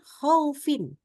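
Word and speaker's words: خوف: ketemu dengan wau sukun khau khaufin ya Jangan dibaca tadi Seperti apa tidak boleh dipaksakan ya terlalu buru-buru khaufin akhirnya enggak kedengaran mana yang fathah mana yang wau jadi Jadi bukan KH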